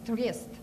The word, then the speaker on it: Трест: mispronounce the word, it's trest.